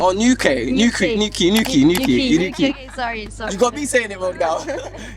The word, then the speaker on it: Newquay: How can I pronounce it? Like in Cornwall, like. Oh, Newquay.